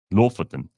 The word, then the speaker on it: Lofoten: Lofoten. That's how they say it.